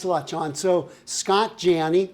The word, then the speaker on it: Janney: So Scott Janney, like John said, it rhymes with Annie. It's Janney.